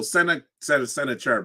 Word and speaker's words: Sennacherib: Shabiko also sends an army to Canaan to assist with the battle against sometimes his name is pronounced Sennacherib or Sennacherib. And so Sennacherib is the way I say his name.